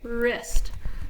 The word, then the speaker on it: wrist: a so W are the W is silent so it's an ER